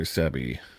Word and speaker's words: Sebi: Sebi.